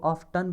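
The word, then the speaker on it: often: I have ऑफन, अब इस word को ऑफ्टन भी पढ़ते हैं, ऑफन भी पढ़ते हैं, दोनों प्रोनाउंसिएशन करेक्ट है।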